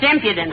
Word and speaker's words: impudence: That's impudence with the emphasis on the second syllable.